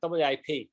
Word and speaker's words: WIP: there's a there's a people also do that wipe that's what they mean by that right so they just say oh it's wip so if you're doing